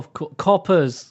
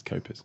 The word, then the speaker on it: Copa's: Oh, Coppers. It's Copa's.